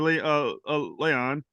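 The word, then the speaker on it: La'an: And it's a tremendous episode, and it's focused on Christina Chong's character, Leon. I'm saying that right. Yeah. Beyond the backstory developed for her in that episode, why was Leon the best character to be like the surrogate for this episode?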